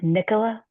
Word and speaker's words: Nicola: Oh, but my question um is your name pronounced Nicola? Yes.